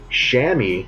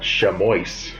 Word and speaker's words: chamois: all over the place chamois is what has how this is supposed to be pronounced not chamois i'm still going to